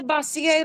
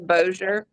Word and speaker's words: Bossier: And the lead singer for Scorpions couldn't pronounce the city. He's like, "Welcome to Bossier, Louisiana," and it was Bossier.